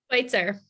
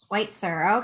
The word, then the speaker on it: Schwytzer: Schwytzer. Schwytzer, okay.